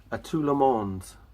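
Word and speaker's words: À tout le monde: A Tout Le Monde.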